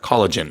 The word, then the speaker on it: collagen: 한국에서는 에스트로겐 이렇게 하는데 estrogen. 영어는 맞아. 에스트로겐. 콜라겐도 마찬가지예요. 그 영어로는 콜라겐 안 하고 Collagen. 콜라겐 이렇게 하죠. 그래서 뒤에 gen 이렇게 발음이 좀 달라진다는 거.